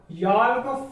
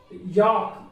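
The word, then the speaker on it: yolk: तो हाँ यहाँ पर एल साइलेंट है क्योंकि के पहले आ रहा है। यदि डी एफ के एम कोई भी वर्ड यदि इन वर्ड के पहले यदि एल आता है तो वह साइलेंट रहेगा।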